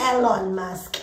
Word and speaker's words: Elon Musk: It's Elon Musk. Elon Musk. He's South African, so I'm saying it right.